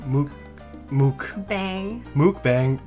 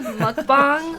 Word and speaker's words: mukbang: bang yeah it's not mooc bang um it's actually mukbang okay not that it's